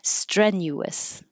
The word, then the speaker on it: strenuous: so Thunderous or thunderus strenuous you have no choice you have to say all three strenuous rockus I spelled this